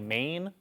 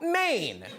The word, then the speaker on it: Maine: Colin, don't you live in like Maine? Yes. And let's talk about Maine. M A I N E. Huh? Really? The E is silent.